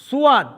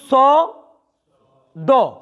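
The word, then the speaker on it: صاد: এই অক্ষরটির ভুল উচ্চারণ সুয়াদ, সুয়াদ অথবা সুয়াইদ, ভুল। শুধু স দ মাঝখানে লম্বা, ওর মতো সাউন্ড, ঠিক এইভাবে একদম সহজ।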